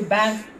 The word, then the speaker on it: Banff: Also, we've been to Banff. Yeah. Is that the right pronunciation?